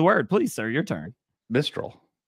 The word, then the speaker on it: Mistral: Mistral. It sounds the same. Same, but different. There's no N in there.